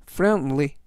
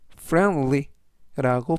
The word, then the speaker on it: friendly: 결혼식장이 하객들로 가득하다라는 뜻이 되겠습니다 이번 단어는 friendly friendly friendly라고 발음하시면 되겠고요 이때 발음에서 알파벳는 음은 아니지만이 단어에서